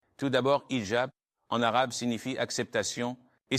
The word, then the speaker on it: hijab: Ce à quoi tu fais référence, c'est hijab, avec un H. Et je sais qu'en France, il ne prononce pas le H quand il est au début du mot, comme dans hôtel ou loi, mais c'est un mot arabe. Donc, nous sommes musulmans, nous devons dire hijab.